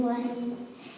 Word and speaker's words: Wurst: There are over 1,000 types of sausages in Germany, and this is how you say it in German. Wurst.